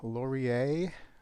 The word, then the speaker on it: Lorier: And it is the Lorier, I believe it's pronounced, Gemini.